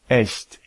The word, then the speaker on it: echt: pour toutes les autres combinaisons, c'est ch. Par exemple, Ich. Euch. Echt.